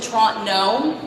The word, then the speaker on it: Toronto: stone thrown away from Toronto we do not pronounce the second T in Toronto is just a toron no like so many people